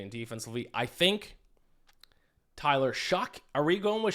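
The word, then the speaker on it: Shough: I think Tyler Shuck. Are we going with Shuck? Is that his last name? I think it's Schaff.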